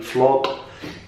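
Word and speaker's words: vlog: حرف الفاء بلفظها بالعربي فلوج، هي فلوج.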